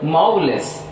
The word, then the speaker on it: marvelous: See here, look at the word marvelous. Marvelous, marvelous. See, there are 3 syllables. So it is a trisyllabic word, so that stress takes place on first syllable.